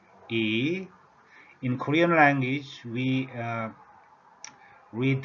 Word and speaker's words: 乁: The pronunciation is tone number 2, E, E.